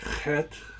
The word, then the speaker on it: Chet: Vav, Zayin, Chet, Chet, so that's a hard H.